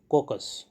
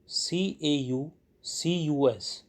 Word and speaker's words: caucus: period store dear friends a word was used in the dictation i think that is wrongly pronounced the actual word is caucus c a u c u s caucus thank you you